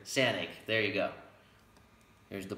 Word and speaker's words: Sanaig: Do you know how to pronounce it? Sanaig. Sanaig.